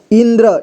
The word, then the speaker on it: इंद्र: ठीक इसे मंद पढ़ेंगे अगला है ई में लगा है अं की मात्रा ठीक है तो इसे इन इसके बाद द देखिए ये द में र की मात्रा इस तरह से लगा हुआ है ठीक है तो इसे पढ़ेंगे हम द्र इंद्र ठीक है इसे इंद्र पढ़ेंगे अगला देखिए जंक जंक